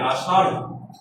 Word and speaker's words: আষাঢ়: কেন তো আষাঢ়? হ্যাঁ, একটু ধাক্কা দিবে। আষাঢ়।